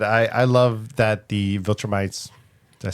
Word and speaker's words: Viltrumites: Like I said, I love that the Viltrumites. Did I say it right? Yeah. He said it. Thank you. Yes. Ding ding ding. I love that the Viltrumites are kind of popping up and their story is expanding.